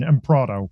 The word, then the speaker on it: Emproto: Right, it's the American pronunciation. Emproto.